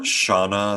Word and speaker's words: Shauna: Shauna is how she pronounces it.